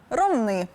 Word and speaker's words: Ромни: з Донеччини на сумщину у місто назва якого теж походить від найменування річки Ромни Чи все ж Ромни першопочатково називалося ромен з наголосом на останній склад згодом назва дещо змінилася втім наголос так і залишився тому єдино правильний варіант Ромни А тепер до найстарішого